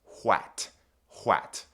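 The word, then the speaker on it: hwæt: There's the A sound, and they use that by combining an A and an E right here. This is called an ash. This is the ash letter, and it makes the a sound. So, this word is wat.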